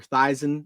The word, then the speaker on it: Theisen: And here's another comment from Trevor Theisen. I think that's how you say it. Not Theismann.